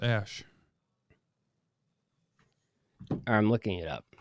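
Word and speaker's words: Æ: look it up it's ash what it's ash no it's like the a e is pronounced ash i'm looking it up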